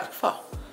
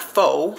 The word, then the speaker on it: pho: yeah fall not faux pho is the know what americans say but being that we